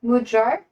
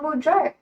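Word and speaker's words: magyar: Is it insulting to your to your culture for me to ask that uh pronounce uh mudar? Oh, mudjar.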